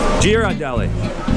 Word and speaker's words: Ghirardelli: Ghirardelli. Gear, hard G. She's with the hard G.